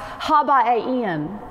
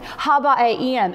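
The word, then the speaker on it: הבנים: And the word champion in Hebrew is pronounced Habaim. Habaim.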